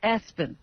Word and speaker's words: ESPN: They It's spelled ESPN, but they calling the kid Espen.